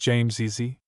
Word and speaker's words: James's: In words which end with a sound that resembles that of s, the apostrophe with s forms an additional syllable. Thus, James's pronounced James easy. Mr. Lynch's pronounce Lynch easy.